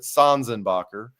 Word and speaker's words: Sanzenbacher: I do think he pronounces it Sanzenbacher.